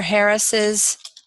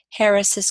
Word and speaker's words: Harris's: Harris's car we do at a syllable right so we had mr. Harris Harris now we're talking about mr. Harris's car Harris's car this is one of these cases where we actually add a syllable without adding a vowel and so we have